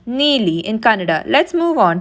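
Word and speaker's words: ನೀಲಿ: Blue is pronounced neeli in Kannada.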